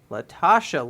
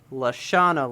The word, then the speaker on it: Lashana: name wrong oh no i said latasha lynch but it is lashana lynch okay i goobered and